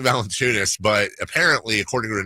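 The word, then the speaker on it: Valančiūnas: teammate did last night yonas Valen chunis yes that's how you say it that ex you say yonas valent no other way to say there is literally never heard any other way Jonas Eno wild sauce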